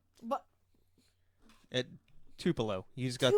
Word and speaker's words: Tupelo: But At Tupelo. You just got Tupelo. You basically pronounced it correctly. You just got the emphasis wrong.